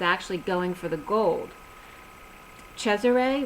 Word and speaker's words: Cesare: going for the gold Cesare which is the Italian pronunciation of Caesar Cesare to trump root throat